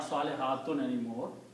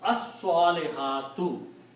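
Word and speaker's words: الصالحات: And when you put al, then you pronounce only one dhamma here. Salihatu, not salihatun anymore. And you pronounce as-salihatu, the good women, plural.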